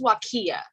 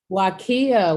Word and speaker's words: Waqia: i say it correctly yes so it's pronounced wakiya wakiya wakiya okay so the awesome jada